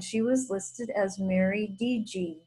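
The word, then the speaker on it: Didier: last name was d-d-a-d-i-d-i-e-r but in indian country that's pronounced dg and um i i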